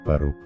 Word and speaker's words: поруб: Вторая часть слова «пору», ударение на последний слог, означает «сруб», «изба», то есть Спас-Поруб – это спасенный дом, спасенная крепость или, возможно, святая крепость.